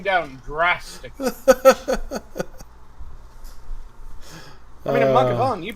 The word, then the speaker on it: Mathghamhain: That's how it's spelled, but that's not how it's pronounced. How it's spelled is Mathghamhain. Or Ghamhain. Mathghamhain. Which, that isn't how you fucking say it. It's Maghgavan.